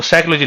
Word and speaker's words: psychology: कह देता है बेटा मनोविज्ञान की स्पेलिंग ना एस से चालू होती है ना सी से चालू होती होती है पी से चालू इसे कहते हैं साइलेंट बर्ड का खेला इसने इंग्लिश का